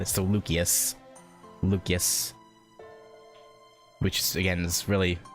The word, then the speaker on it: Lucius: And I I want to say it as Lucius, but you guys said it was pronounced with a K like as as like a hard hard C or K. So Lucius Lucius, which again is